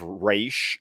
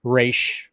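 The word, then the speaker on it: Ra's: Like pretty much just Raish. Raish. Yeah. I pronounce it like it's spelled Raysh.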